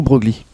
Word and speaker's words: Broglie: général de gaulle exact est-ce qu'on prononce braille ou broglie prononce les deux relances les deux hommes prononce les deux et à vous préférez vous a aucune importance aux du broglie nous